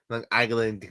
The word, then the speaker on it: Long Island: That's how people in Long Island say it, I feel like. As a Jersey person, just the difference as far as how they say it. Long Island. Like the G becomes part of the second word.